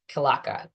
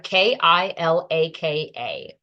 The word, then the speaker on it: Kilaka: But the resource I have found is Kilaka mudra, Kilaka.